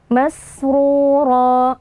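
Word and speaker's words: مسرورا: Masrura, huruf sin kita baca dengan mengalirkan nafas dan juga suara. Kemudian oroknya kita tebalkan karena oroknya berharokat dhammah.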